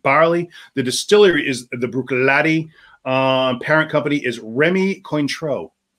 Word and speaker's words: Bruichladdich: This is the pronounced Bruichladdich. Bruichladdich. The Bruichladdich. It's not Laddick. It's Bruichladdich. Bruichladdich.